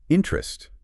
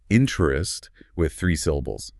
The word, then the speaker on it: interest: Is it interest? You know, you can say it like that, but very often, maybe most often in casual speech, it sounds more like two syllables.